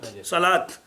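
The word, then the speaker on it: صلوٰة: صلات پڑھ لیا، لیکن لکھا جاتا ہے صاد لام پھر واو، اور پڑھا جاتا ہے کیا؟ الف. صلات، تو صلات پڑھا جاتا ہے، لکھا جاتا ہے واو کے ساتھ.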